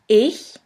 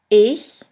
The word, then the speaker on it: ich: In the first case, this letter combination sounds simply like the H in the word huge. Here we have the example of the word ich, which means I.